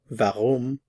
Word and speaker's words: warum: Notice the pronunciation of the W in all of these 3. Wann, warum, was. In this lesson we are going to learn the interrogative which.